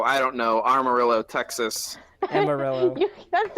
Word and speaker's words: Amarillo: Armadillo. Armadillo, Texas. Armadillo. Oh, Amarillo. Thank you. You say it right.